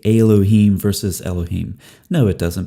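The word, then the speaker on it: אלהים: But when you add something to the end of a word in Hebrew, Hebrew likes to keep that accent on the end. And so that changes the vocalization, changes the vowels throughout the word in the vast majority of cases. And so El becomes Elohim.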